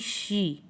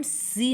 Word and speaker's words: She: फिर नेक्स्ट है SHE, शी। इसे हम सी नहीं बोलेंगे, इसे हमें बोलना है शी।